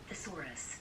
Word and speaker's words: thesaurus: hard thesaurus the thorax i i um i tend i tended to you know to take it you know to pronounce it as in the same in the same manner as treasure you know treasure such as you know oxford treasure dictionary instead of you know